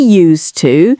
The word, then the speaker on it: used to: And similarly, to be used to, again, it's the S sound, to be used to something, is when you have adapted or it's always been like that.